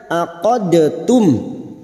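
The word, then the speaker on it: عقدتم: 2 huruf ini sejenis makhrajnya, maka cara membacanya dengan menghilangkan sifat qalqalanya yang asalnya aqadtum, dibaca aqadtum. Sifat qalqalah dari huruf dal ini hilang dan siap masuk ke huruf ta, namanya idgham mutajanisain.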